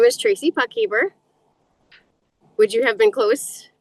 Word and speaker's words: Puckhaber: My name is Tracy Puckeer. Would you have been close pronouncing?